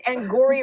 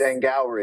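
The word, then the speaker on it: Angourie: Yeah, you you said it that because you didn't know how to pronounce her name. I don't. It's Angori Rice. Angry.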